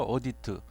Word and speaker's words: audit: 그 해석을 해 보이 어디어디 트라고 읽어야 되는 audited 보시죠 어디 트 웃게 굳이 이제 직역을